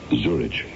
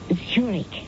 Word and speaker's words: Zurich: Zurich? That's pronounced Zurich, as in the Swiss city.